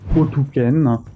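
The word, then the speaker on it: Otyken: Ensuite, je voudrais vous parler de Ouken. J'ai cherché, c'est comme ça que ça se prononce. Malgré le fait que ça s'écrive avec un Y, c'est tout simplement parce qu'ils sont russes de Sibérie.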